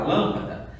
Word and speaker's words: lâmpada: O lã é a minha sílaba tônica porque ela já tem um acento.